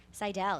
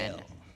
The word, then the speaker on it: Seidel: Seidel, yeah. Yeah. You were close. Actually, you know what? You did the correct German pronunciation. Seidel. I actually pronounce it wrong.